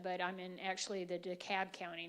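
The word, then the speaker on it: DeKalb: I'm in actually the daab county not the Fulton County part which everybody knows daab County thanks a lot elections um but they're also saying it correctly instead of deob which is great um but we had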